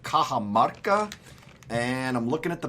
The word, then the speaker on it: Cajamarca: This morning we're enjoying a coffee from Peru called Cajamarca. And I'm looking at the bag. That's how you say that. That's how you say it, not whatever the hell you said, Mark.